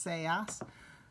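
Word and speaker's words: seas: say us don't be looks like C's but it's pronounced say us no say us Marlowe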